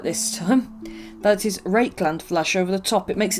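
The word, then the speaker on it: Rakarth Flesh: then put a coat of rakeland flesh let's pronounce it right this time that is rake land flash over the top it makes it look like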